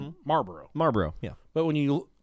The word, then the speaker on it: Marlboro: but I called him Marlboro Marlboro yeah but when you try and there's an L in there yeah try and say it like it's spelled Marlboro Marlboro yeah Marlboro when